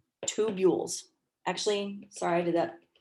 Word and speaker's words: tubules: call them tubules and it's not pronounced two bulls or two belays it's pronounced tube yules tubules actually sorry i did that my phonetics is wrong it should be here we go tubules i'm not very good